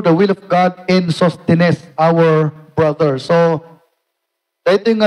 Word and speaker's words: Sosthenes: Antay lang Ilocanonan, basta dito pronunciationan. Sosthenes, kunan na.